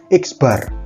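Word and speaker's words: x̄: Ini X dikasih garis di atas itu bacanya X bar ya, X bar, X dikasih garis di atas.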